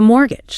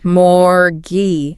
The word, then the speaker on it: mortgage: The T in the middle is entirely silent. Entirely silent. It is pronounced M or G. Morgy.